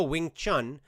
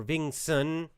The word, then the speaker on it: Wing Chun: martial arts i practiced oh wing chun or ving sun you'll see it pronounced uh written in different ways with english letters i was afraid i